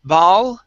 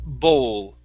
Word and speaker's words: bowl: next is the word bowl instead of baal okay it's an old sound bowl there you go okay